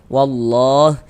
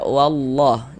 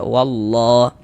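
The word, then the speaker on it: والله: Kemudian di sini wallah ini kita baca wallah jangan dibaca walla walla jangan. Tapi dibaca wallah.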